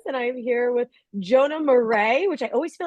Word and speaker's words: Marais: I'm here with Jonah morray which I always feel like I'm going to say your name incorrectly it's spelled so beautifully and I know that it's like morray but I feel like